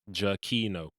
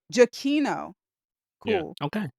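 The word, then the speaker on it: Giacchino: according to his twitter his name is pronounced jacquino jaquino and this sounds like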